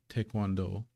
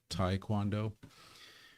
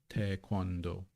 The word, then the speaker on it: taekwondo: Taekwondo is of course, as usually, it's usually pronounced in English by English speakers, Taekwondo. But that first syllable, if you look at the Hangul, is te, not tai. Taekwondo, taekwondo.